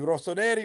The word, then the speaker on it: Rossoneri: Rossoneri.